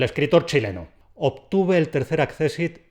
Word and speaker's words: accésit: dado cuenta de que yo estoy diciendo todo el tiempo accésit lo estoy pronunciando como palabra llana cuidadito que hay mucha gente que lo convierte en el brújula pero es ya no es accésit no es accésit y